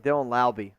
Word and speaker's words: Laube: Yeah, they just drafted Dylan Laube. Rhymes with Wowby. It does rhyme with Laube.